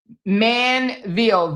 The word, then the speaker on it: Manvel: It's uh Manvel, v e l, m a n v e l, Manvel, Texas, okay?